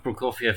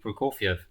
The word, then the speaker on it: Prokofiev: Your pronunciation of Prokofiev is insane. Yeah, because I was thinking about Eddie Wally. It's not my natural pronunciation of Prokofiev.